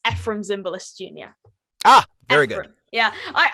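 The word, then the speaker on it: Efrem Zimbalist Jr.: just had a i've just listened to the pronunciation it's ephrem zimbalist jr ah very good yeah i i constantly mispronounce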